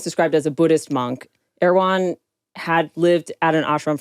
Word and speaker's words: Erwan: His name is Erwan? Erwan. Yeah, I thought it was Erwin. Not Erwan, like the grocery store. Not the grocery store. It's spelled ERWAN.